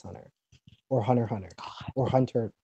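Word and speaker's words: Hunter × Hunter: the show and Hunter x Hunter or hunter Hunter hunter x hunter that's her x it's it's actually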